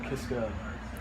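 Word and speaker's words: Kiszka: Oh, so you're taking on the whole Kiska, am I pronouncing it right?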